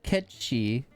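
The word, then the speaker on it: Cait Sith: the front foot of the mythical ketchy believe it or not that's how it's actually pronounced a cat with a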